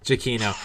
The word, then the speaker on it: Giacchino: Michael Giacchino. It doesn't look like it's pronounced like that.